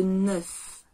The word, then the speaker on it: neuf: 9 se prononce comme le chiffre 9. 9. Quoi de neuf ?